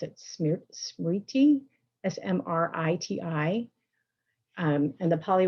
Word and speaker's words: smriti: word in um sanskrit is i'm going to mispronounce it smear smriti s-m-r-i-t-i um and the poly word is sati